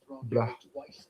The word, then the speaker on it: Blachowicz: Hasn't been one of the 3-hour ones I usually do, but nonetheless, I'm here to catch the last 2 fights, Reyes and Blachowicz.